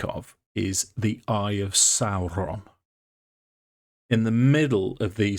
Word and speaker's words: Sauron: Can I just say, I love the roll of the R on when you pronounce Sauron there, Dave. Correct pronunciation.